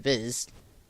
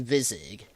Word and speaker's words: Viz: No, that's correct. The way I used to say it was Vizig. Which, I don't know, still sounds more right to me.